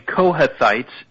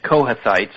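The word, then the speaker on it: Kohathites: um yeah they're saying cohethites k-o-h-a-t-h-i-t-e-s cohethites is how it sort of looks pronounced were one of three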